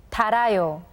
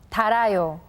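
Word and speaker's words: 닳아요: Well, in this case, the 히읗 sound becomes silent, so please listen carefully to how 선생님 pronounces the words. 잃어요, 잃어요, 달아요, 달아요, 끓어요, 끌어요.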